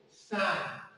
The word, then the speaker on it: sine: Why don't you pronounce it as sin s? No, sine.